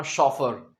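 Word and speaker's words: chauffeur: अगर कोई कहे आई एम अ शॉफर it means वो कह रहा है कि मैं एक प्रोफेशनल ड्राइवर हूं।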